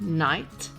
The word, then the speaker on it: knight: is K when it precedes an N at the beginning of words this combination is a remnant of Old English and is found in words like Knight and KN the K was once pronounced but over time the pronunciation shifted to a silent k b is also silent